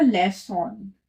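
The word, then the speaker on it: leçon: बट अगर हम इसमें एक्सेंट लगा देते हैं तो उसका प्रोनाउंसिएशन हो जाएगा लेसॉन।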